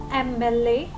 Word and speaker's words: MLA: Some words that begin with M is pronounced with a vowel sound at the beginning, like M. So the sound is of E vowel over here. So we say an MLA because the sound is starting with M, E sound. An MLA, an MP.